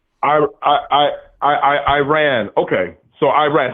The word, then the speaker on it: Iran: Iran is how you say it. Iran. How How How do I say it? I ran, like I ran down the street. It's Iran.